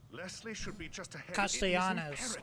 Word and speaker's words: Castellanos: Castellanos. Okay, so I was pronouncing it wrong the whole time.